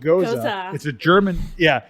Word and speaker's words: Gose: I was like, and I said, "What the hell's a Gose?" And they're like, "It's pronounced Gose. It's a German beer.